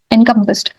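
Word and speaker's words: encompassed: इनकम्पस्ड, sorry, this is इनकम्पस्ड, इसको इस तरह से प्रोनाउंस किया जाता है, इनकम्पस्ड।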